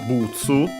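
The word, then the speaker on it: ブーツ: And yeah, as mentioned, after that we have the noun butsu, and yeah, boots from English. Let's quickly check its accent. Yes, accent on the first syllable as expected, just like in English.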